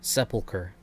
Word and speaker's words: sepulcher: up as well because i've always pronounced it sepulcher okay yeah i i am correct that is correct pog i got another